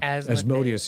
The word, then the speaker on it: Asmodeus: Asmodeus, yeah. Asmodeus is sometimes how you hear it pronounced as well.